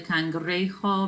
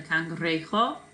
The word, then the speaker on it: cangrejo: And a crab, el cangrejo. Remember, J makes an H sound. El cangrejo.